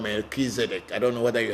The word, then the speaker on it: Melchizedek: there was a christ which is called the mercenary as in the american pronunciation and we in the african pronunciation called melchizedek i don't know whether